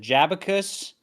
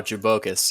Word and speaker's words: Jabocus: Is it Jabacus? Oh, Jabocus, yeah.